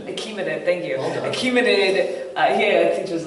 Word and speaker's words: Achaemenid: Achaemenid, thank you.